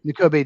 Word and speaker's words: Nakobe: Nakobe Dean, I think Nakobe is how you say his first right? N'Kobe Dean, yeah.